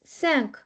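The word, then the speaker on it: cinq: Now when we have a egre then it is by default pronounced as sir and we do not need to add cd. For example sank. Now it's not can it's sank.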